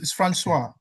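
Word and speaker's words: François: That that name is Francis in French. Is Francois. That's French. Okay. That's that's a French version of Francis. Okay. Thank you. It's Francois.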